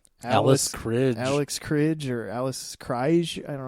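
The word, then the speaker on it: Alice Krige: Alex Cridge or Alice Cridge. I don't know how you say her name. It's Alice Cridge.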